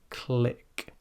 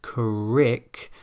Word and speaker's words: click: Try the word click, click, and as mentioned there, pronounce it very slowly and try to exaggerate it. It should not sound like crick, but click.